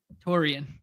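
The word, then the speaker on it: Taurean: yeah terod pritz yeah Teran pritz ter how do you say his name Teran Toran torian there you go former Laker um purle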